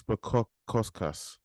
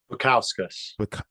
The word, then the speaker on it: Bukauskas: Um, Mr. Modestas Bukuaskas. Bukauskas. Bukauskas. There you go.